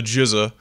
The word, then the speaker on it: GZA: is a album by his name is spelled GZA but we call them the GZA Oh like the RZA yeah he was also